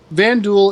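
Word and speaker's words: Vanduul: Van Duel is what the writers called it early on,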